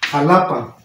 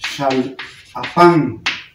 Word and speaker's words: Xalapán: Hoy en día le decimos, o no sé cómo lo escriban así, Jalapa, que es allá en Veracruz, pero su nombre original es Xalapán, porque se pronunciaba sh, cambió a j.